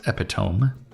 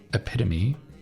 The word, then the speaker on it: epitome: Not pronounced epitome. It is epitome.